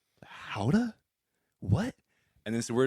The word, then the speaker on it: Gouda: we're like okay yeah this is really good gouda and he's like how to i was like how do you pronounce it how duh how to he's like